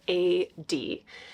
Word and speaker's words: Aeyde: how it's spelled because it sounds a little different than it's spelled so yeah this is the brand AE yde e but you say A D like architectural digest and I have just